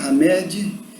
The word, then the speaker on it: Hamed: de hamed hamed e é com h né hamed mas pronuncia-se r média para alguns talvez sejam